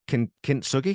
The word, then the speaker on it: Kintsugi: So it was Kintsugi. It's Kintsugi. Is that how you pronounce it? Kintsugi.